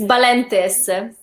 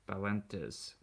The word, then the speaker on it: Balentes: It's Balentes. Balentes.